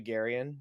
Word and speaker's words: Garian: But um given that my first name is actually Garyen to those who don't know um I got